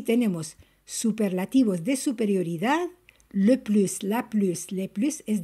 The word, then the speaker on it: plus: Quand l'adjectif ou l'adverbe commence par consonne, on ne prononce pas le S de plus, mais la liaison est obligatoire devant une voyelle ou H muet. Par exemple, le plus timide.